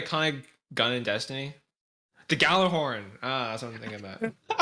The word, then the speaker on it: Gjallarhorn: It's pronounced Gjallarhorn? Yeah. Yep. I call it the Gjallarhorn. I don't call it. Alright, Achievement Hunter lied to me. Because there's a J in there as well, which makes it.